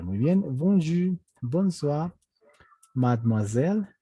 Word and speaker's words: mademoiselle: incluso, se les dice mademoiselle. Mademoiselle. Acá hemos dicho, ve, justamente la E se vuelve muda, no se dice mademoiselle, se dice mad.